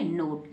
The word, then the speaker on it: KNOT: के तुरंत बाद एन है और के को नहीं पढ़ेंगे, केवल क्या पढ़ेंगे, नोट।